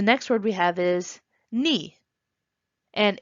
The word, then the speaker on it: 니: When I was first learning Korean, I was thinking, why is it spelled like ne, but it said like ni?